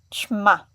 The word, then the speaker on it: ćma: They're both sounds to make a soft sound, but adding the letter I is making it a little bit longer, and the letter with the accent itself, it's making a shorter sound. Still soft, but short.